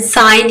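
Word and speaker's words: sign: साइन एस आई एन साइन ही बोल रही हूं एस आई जी एन ने मतलब मैं जी को तो प्रोनंसिएशन मैं ही नहीं ला रही हूं तो जी ही आपका साइलेंट वर्ड हो जाएगा ओके चलिए आगे देखते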